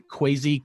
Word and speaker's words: Quasi: But we eventually landed on Quasi Cupcakes. And full disclaimer, you do have to pronounce the W. That's part of it.